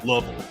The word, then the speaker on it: Louisville: Going back to the Louisville thing, watching OVW on, and actually locally they pronounce it Louisville. Louisville.